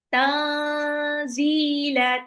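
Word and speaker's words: تنزيل: yasinya tanzilal tanzilal azizirrahim Tanzila. Tanzila diturunkan ya Al-Qur'an diturunkan oleh Alaziz yang maha perkasa. Arrahim yang maha penyayang. Tanzila nun sukun ketemu zai itu adalah ikfa. Jadi nunnya harus samar.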